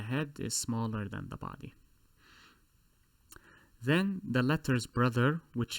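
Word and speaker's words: ضاد: Just remember, you are pronouncing a D this time, not an S. So instead of saying sod, you're saying bod.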